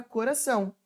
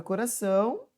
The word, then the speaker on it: coração: Por exemplo, a palavra coração se escreve com cedilha. Só que o cedilha é para indicar que o meu C não tem som de K.